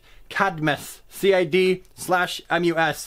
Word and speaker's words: Cadmus: CID I'm us Cadmus there's no extra I vowel there but for some reason four year have pronounced academies and it's just something